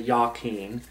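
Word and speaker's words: Jachin: yaken and Boaz which Masons uh they have a different pronunciation I say yaken which is original Hebrew so yeah so Olive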